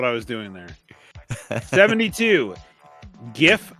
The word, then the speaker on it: GIF: was doing there 72 GIF should be pronounced with a hard G and not a soft G when when they say soft G do they mean GIF like call it a